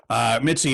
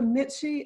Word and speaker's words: Mitzi: Mitzi, if people want to learn more about you